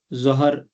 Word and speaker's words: ظہر: یہی ہیں، ہم فجر، ظہر، عصر یہ کرتے ہیں، یہ اس میں جو دوسرا حرف ہے وہ ساکن ہے۔ فجر، ظہر، عصر، مغرب،